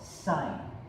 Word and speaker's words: sin: the first formula right here this SIF is pronounced sign them directly this is called sine sine of an angle is equal to the